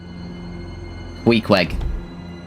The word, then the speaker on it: Queequeg: Queequeg. No, you're saying it right?